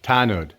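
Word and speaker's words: tanod: Tanud.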